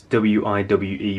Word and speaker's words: WIWE: The idea is that this particular box, well, more importantly, what's in it, WIWE, I think I've got that right, it's W-I-W-E, but pronounced WIWE, from Hungarian company Sanep